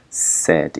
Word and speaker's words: said: but in this case set is an exception and is pronounced like e right the pronunciation of